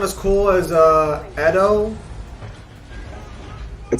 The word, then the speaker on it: Edo: Ito Madara versus Jubito. Oh, I hate when people do that. Just say reanimation. Ito Madara. You're also still pronouncing that wrong if you'll use that term. It's Edo.